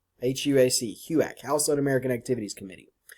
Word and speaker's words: HUAC: on American Activities Committee we pronounce the abbreviation as Hugh AK HUAC Hugh AK house on American Activities